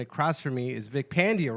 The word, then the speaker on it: Pandya: Am I saying it right? Yeah, Pandya. God fucking damn it! Sorry. How long have I known you? God damn it! I was just watching you. Did they at Dry Bar? Your special? Did Yeah. he say it right? Okay, he They said it right. Yeah. I said it wrong. Pandya, right? Pandya. Pandya. God damn it! I'm still saying it wrong.